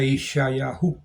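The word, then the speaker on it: ישעיהו: Isaías se pronuncia Isayahu en hebreo.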